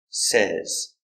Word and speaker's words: says: say but he says pronunciation says s say Z says he says hello in present say and